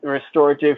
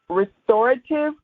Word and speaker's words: RXestorative: fingers make a x r e s t o r a t i v e restorative because we restore your hair so it's restorative the x is silent we have to i